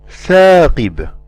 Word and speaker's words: ثاقب: alif a tha, and we do not elevate the back of the tongue when we pronounce the letter tha. Examples: ثاقب, ثاقب, ثاقب.